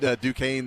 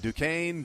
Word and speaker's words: Duquesne: Do you think he also got those gifted from Nike so that he could, hey, Nike, can you send Duquesne these shoes?